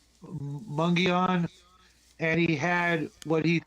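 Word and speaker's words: Mogollon: My old man said he was hunting elk up above Arizona's Mongolian rim, pronounced Mungion, and he had what he thought was a Bigfoot in his scope, but he did not shoot.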